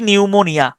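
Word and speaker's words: pneumonia: এই সাইকোলজির এবং হচ্ছে নিউমোনিয়া সাইকোলজি এবং হচ্ছে নিউমোনিয়া এই দুইটার শুরুর দিকে যে পি এটা কোন উচ্চারণ হয় না এটাকে আমি উচ্চারণ করতে হবে পি নিউমোনিয়া পি নিউমোনিয়া পি এনই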